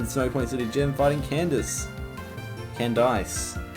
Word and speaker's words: Candice: Candice, actually, that's how you say it. Candice. It's canned ice.